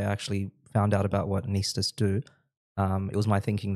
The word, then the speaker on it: anaesthetist: So anaesthetist. It's not anaesthetist. Nah. It's anaesthetist. So anaesthetist is how we pronounce it in Australia.